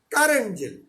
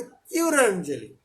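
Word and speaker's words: currant jelly: যাবে, এটাকে আমরা বলি কারেন্ট জেল। বই মোস্ট অফ দ্য বইতে কারেন্ট জেলি, এটা আসলে উচ্চারণ নাকি হওয়া হতে কিউরেন্ট জেলি।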